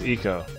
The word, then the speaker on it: ICO: ever heard of that ICO or is it is it Iko Iko I think it's eco because it's Japanese and I is pronounced E so I think with